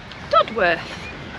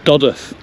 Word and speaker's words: Dodworth: you think to this one Julie dodworth it's actually doth oo so what